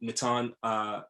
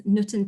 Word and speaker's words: Nutan: I also want to give another honor to Nitin Patel. Am I saying that correct? So I barely say it correctly, but it's Nutan Patel, but I say it with an English accent.